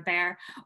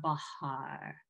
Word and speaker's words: Bahr: if you were um it comes from bear so bear is kind of correct too if you say bear or um if you